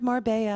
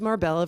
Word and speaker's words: Marbella: Marbella, our old friend Marbella. Which I've been mispronouncing as Marbella for 25 years until Laura Mangone told me it's Marbella. like paella.